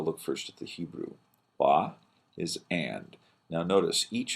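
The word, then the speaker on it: וַ: Wa is and. Now notice, each of these verses and phrases starts with wa. Wa, wa, wa, and so forth. Often pronounced va in modern Hebrew.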